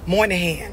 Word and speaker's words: Moynihan: 1965, a Democratic senator by the name of Daniel, how do you say his last name? Moynihan, right?